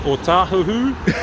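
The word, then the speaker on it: Otahuhu: O tahuhu. You know? I've been working out Howard too long. Yeah, people, but yeah, pronounce it right.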